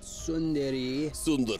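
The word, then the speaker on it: tsundere: a temmie plane maybe what does what does sun Dairy mean sundairy that means something um that's one of those like yeah yandere Senpai yeah yandere Senpai kawi Kawaii desudesu I let's see uh pronounced sundari Japanese term for character development process that describes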